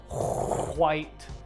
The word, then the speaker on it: white: I grew up here in Texas, and I was taught in elementary school that you pronounce all the letters. So the word white, as you can hear, I say the white.